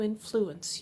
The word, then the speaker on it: influence: The C makes an S sound.